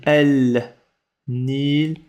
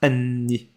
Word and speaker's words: النيل: vrai ça se prononce Anni. Anni. Anni. On expliquera la règle plus tard. Faut juste retenir ça. Anni. Ça s'écrit L N, mais dans la prononciation ça se dit N.